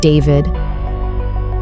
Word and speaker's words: D4VD: For those unfamiliar, D4VD, pronounced David, is the breakout sensation behind the hauntingly emotional track.